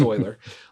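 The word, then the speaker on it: Euler: mispronounced his name it's e r and I pronounced it uler for the longest time it's it's Oiler um he's a delightful mathematician he he's writing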